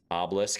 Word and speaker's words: obelisk: Oblisk guy, I guess. Yeah, that is how you just say obelisk. It's the American pronunciation, you know.